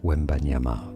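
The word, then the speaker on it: Wembanyama: Victor Wanyama.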